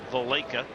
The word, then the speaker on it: Valaika: Valaika. Chris pronounces it Valaika.